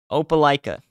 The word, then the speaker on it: Opelika: they're like no it's this no it's this Opelika I'm going with that Opelika Opelika yeah all right anyways so this uh